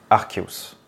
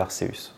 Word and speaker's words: Arceus: traduction et cetera mais ce Pokémon légendaire le dieu des Pokémon est censé se prononcer archeus je vais m'efforcer de